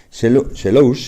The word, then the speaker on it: Selous: Selous, se pronuncia, es un apellido francés, es el apellido de